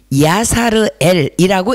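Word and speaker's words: ישראל: 깊은 뜻이 담겨 있습니다 이스라엘은 히브리어로 야사르엘이라고 읽는다고 합니다 비브리어 단어 야사르는 곧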